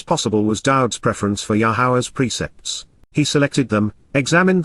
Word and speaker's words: Yahowah: your deliverance and Freedom yahwah yahwah the proper pronunciation of yahwah our eloa God has directed in his Torah